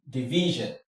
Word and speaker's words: division: The stress falls here, so you have t v sion, division. de vi sion. The stress is here.